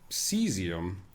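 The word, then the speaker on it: caesium: and I was like is this pronounced kium it's actually they're both cesium but in English versus American that's the English uh spelling like the European English yes yes AE isn't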